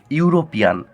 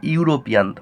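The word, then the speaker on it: European: এখানে উচ্চারণ হচ্ছে ইউরোপিয়ান। তাহলে দেখো, ইউরোপিয়ানের উচ্চারণ ইউর মতো হচ্ছে, ইউরোপিয়ান।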